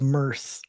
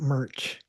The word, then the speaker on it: Merce: No, Eddie, his name is Merce, not Merch.